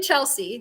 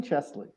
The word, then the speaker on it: Chesley: how to say you're how do you say your last name ches chesley that's what i said didn't i say chess you said chelsea it's okay everyone oh